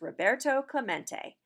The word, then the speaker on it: Roberto Clemente: mate it echoed in the near empty stands Roberto Clemente was his name and this is pronounced Roberto Clemente as if to introduce himself Roberto smacked the